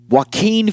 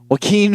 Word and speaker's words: Joaquin: so our next topic Joaquin Phoenix I believe that's how you pronounce his name I hope to god that's how you pronounce his name I I couldn't just go with that well keen Phoenix in this kind